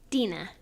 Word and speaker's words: Dena: properly how do you say your first name Dena okay and how's that spelled it's DEA it's